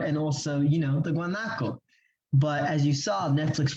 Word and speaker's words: Guanaco: Or also how to pronounce the first word. Guanaco binge.